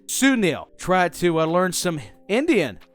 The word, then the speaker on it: Sunil: I don't know, but he's played by a great actor, very talented, seriously, and that would be pronounced Sunil.